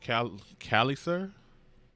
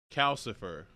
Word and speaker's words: Calcifer: She also meets a fire demon here called Cal Calliser. Callis, hold on. How do you pronounce his name? Calcifer. That's what it is. There we go. Name Calcifer and Marco, which might be his son.